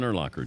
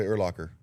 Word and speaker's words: Urlacher: All my uncles on the Urlacher side say Urlacher. But then when I got to Chicago, it was Urlacher. I'm not going to correct you when you say Urlacher or Urlacher. But it rhymes with linebacker.